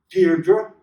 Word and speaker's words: Deirdre: "Deirdre?" Her heart gave a leap, and then stood still. Only one person had ever spoken her name like that, with the faint stress on the first syllable that made of it a caress.